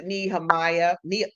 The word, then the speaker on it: Nehemiah: Yeah, it's Nehemiah. And some people do say Nehemiah, and that's that's fine with me, but it's Nehemiah.